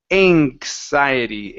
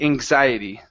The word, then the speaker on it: anxiety: from an N it it changes that K to more of a g sound so it's anxiety anxiety anxiety just like that so we don't want to pronounce a in with a sh sound inks anxiety anxiety mhm